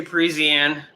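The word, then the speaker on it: Parisienne: oh wow no and that is the proper way to say Parisian because I know that some people have trouble saying that so me and you guys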